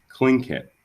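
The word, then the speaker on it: Tlingit: said he was a king get indian pronouncing king it proudly with a clicking of his tongue as if saying clink hit he was built like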